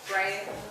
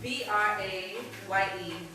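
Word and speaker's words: Braye: Oh, but I used to call him Bray. Okay, very, very, yeah, I Brian.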